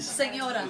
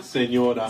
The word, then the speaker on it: señora: Señora. Señora.